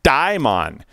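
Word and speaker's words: daemon: in ancient Greek and he said it was pronounced dime on in in ancient Greece so we all caught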